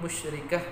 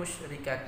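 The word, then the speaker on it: مشركة: Jadi masih ada taknya, padahal yang namanya tak marbutoh itu ketika waqaf maka huruf taknya itu diganti menjadi huruf H. Jadi bacanya mim musyrikah bukan mim musyrikat.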